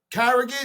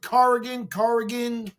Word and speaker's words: Corrigan: And listen, with all due respect, that coach Carrigan, how do you pronounce it? Corrigan.